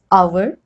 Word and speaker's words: hour: Hour, honest, honor, air. Okay, so there is H, but it is not pronounced.